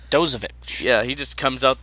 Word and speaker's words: Dozovic: Dozovic.